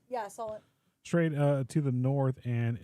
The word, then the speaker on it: Solent: Is that how you pronounce that? Solent. Yeah, Solent.